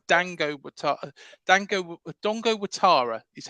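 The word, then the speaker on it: Dango Ouattara: uh Dongo Atara um it's spelled Dango Dango Dongo watara is how it's pronounced uh but it's spelled Dango oh Dango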